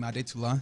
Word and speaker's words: Adetula: I am Nigerian, as you might be able to tell by the last name Adetula. Yeah.